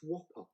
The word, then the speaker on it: WOPR: he's just telling me it's w-o-p-r is it so is it pronounced whopper it probably is should be it's the whopper weapons